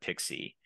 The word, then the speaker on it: PKCE: absolutely and so in the pixie flow which is spelled pkce and stands for proof key for code exchange um that's what we